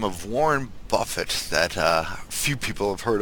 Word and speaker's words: Buffett: Next up, we got a gentleman by the name of Warren Buffett that few people have heard of. I think it's pronounced buffet.